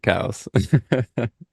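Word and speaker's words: Coues: most but maybe I'll start honoring him and pronouncing it cows if it becomes painful when people on the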